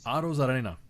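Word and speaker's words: Arozarena: Zarena. Auto Zarena. That's how you say it.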